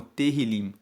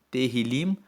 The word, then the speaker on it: Tehillim: Salmos, no texto original, no texto hebraico, ele é conhecido como Tehillim. Se escreve T-E-H-I-L-I-M. Tehillim significa louvores.